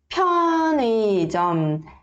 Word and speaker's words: 편의점: Aqui esse 의 não precisa se preocupar de querer ler 의, tá? Você pode ler como se fosse um som de i, tá? E aí fica 편의점, 편의점, tá? Fica mais natural, tá?